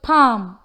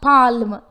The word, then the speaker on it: palm: The word palm has the letter L but its approximate consonant sound L is not heard. It's just palm but not palm.